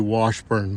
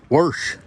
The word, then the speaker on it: Washburn: It's actually Washburn, but Grandma Joe she uh pronounces wash like it's worsh.